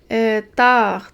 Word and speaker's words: tard: Tard. Tard, c'est un adverbe. C'est un mot qui est invariable. Il s'écrit toujours de cette façon-là. Et il y a un D muet.